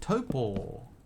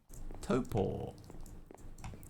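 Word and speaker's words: Taupo: Um, if you ask a local here, they will say that it is pronounced topo. Toppo.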